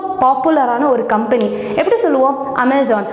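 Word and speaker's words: Amazon: பட் ஆக்சுவலாக அதோட pronunciation என்ன அப்படின்னா அமேசான். அமேசான் இல்லை, அமேசான். ஸோ இப்போ எங்கே நம்ம ஸ்ட்ரெஸ் கொடுக்குறோம் அப்படின்னா, இந்த இடத்துல நம்ம ஸ்ட்ரெஸ் கொடுக்குறோம். ஸோ அப்படின்றத நம்ம அப்படின்னு அமேசான்றத அமேசான் அப்படின்னு நம்ம ப்ரொனவுன்ஸ் பண்ணோம்.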